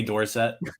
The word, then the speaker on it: Dorsett: carter sherry thing or like tony dorsett where like he was like 50 years old and all of a sudden he's like it's dorset i wish i had